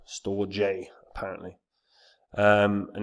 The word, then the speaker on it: Storj: infrastructure uh Network it is cloud hosting it's pronounced store J store J apparently um and it's an open source uh